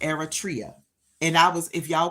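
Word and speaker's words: Eritrea: So, Eratria, Eratria, Eratria. Eratria. Thank you, Irish. That's good enough for me cuz I was butchering it. But it's pronounced Eratria.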